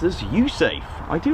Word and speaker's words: USAFE: Air Force in Europe base which is happily pronounced as usafe I do like that by the way so